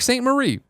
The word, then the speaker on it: St. Marie: My name is Mark St. Marie. Saint pronounced Saint.